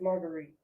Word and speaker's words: Marguerite: Yes, it's not Margaret, it's Marguerite.